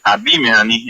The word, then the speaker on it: abimehani: Su pronunciación correcta es abimehani, endulzando.